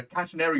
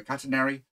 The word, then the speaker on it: catenary: neighbors so it forms a shape called a catenary or catenary depending on how you pronounce it i prefer catenary and it's a shape